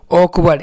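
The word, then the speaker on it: awkward: पढ़े वा पढ़े और यहां पर आर आपका साइलेंट है इसका व कुछ नहीं है मतलब और डी को हम लोग डा पढ़े तो क्या हो गया आपका मिलके ऑकवर्ड इस तरह से ऑकवर्ड तो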